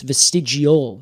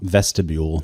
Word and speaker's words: vestigial: Now I should note, just to be very clear, it's vestigial, not something that you said. Vestigial. Yes. I don't want anyone to add us and say, well, actually, you pronounced it wrong. Vestibule.